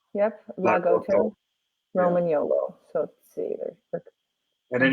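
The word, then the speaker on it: Lagotto Romagnolo: Yep, Lagoto, Roman YOLO.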